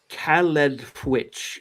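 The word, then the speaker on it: Caledfwlch: The sword's earliest name was, and I'm going to mispronounce this because I don't speak Welsh, was Caledfwich, meaning hard cleft.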